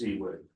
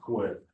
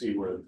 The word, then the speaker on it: CWIP: if anybody's ever curious, the appropriate pronunciation of that is CWIP. It's not quit. It's CWIP, because there's no Q in that acronym.